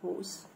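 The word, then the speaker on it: whose: لاحظ ان حرف الدبليو في كلمة ايه؟ هوز لا ينطق، ببدأ الايه النطق من حرف الاتش تبقى ايه؟ هوز.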